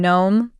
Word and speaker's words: gnome: common words for example the silent G in Gnome or sign the silent